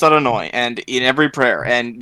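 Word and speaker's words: Adonai: up the Hebrew alphabet this would be pronounced roughly yeeha uh but is pronounced out anoi and in every prayer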